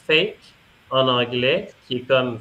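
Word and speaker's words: PHEIC: assez ironique parce que ça se prononce fake en anglais qui est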